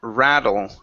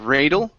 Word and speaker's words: rattle: go to the word rattle right here instead of rle it's an a sound short a and rattle my windows